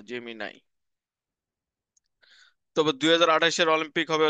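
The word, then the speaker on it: Gemini: হচ্ছে গুগল ঠিক আছে জেমি নাই উচ্চারণ এটা জেমিনি না জেমি নাই তবে 2028 এর অলিম্পিক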